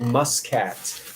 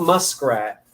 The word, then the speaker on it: muscat: What is a puffed seeded muscat? Not muskrat.